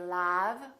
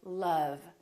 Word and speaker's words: love: And once in a while, this sound is also spelled with the letter O as in words like love. We don't say love, we say love.